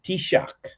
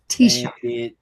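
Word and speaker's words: Taoiseach: It's an Irish word and they pronounce it tishak. Tishak.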